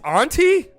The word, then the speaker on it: Anta: officer over at uh how do you pronounce this is it Anto or Anta or Anta it's kind of what I thought but I don't think I've ever heard somebody say it out loud it's Auntie anti-Semitic all right you